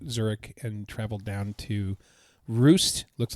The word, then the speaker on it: Rust: uh flew into Zurich and traveled down to roost looks like rust but it's pronounced ro ro ro Germany M uh for